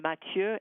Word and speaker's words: Mathieu: There's one in particular that's spelled, it's a French name, Mathieu, M-A-T-H-I-E-U, IUD removal forceps.